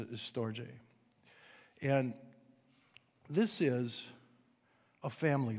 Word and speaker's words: storge: so here's these other two one is called storjay or some might say storge but it mostly pronounces it is storje and this is a family love you see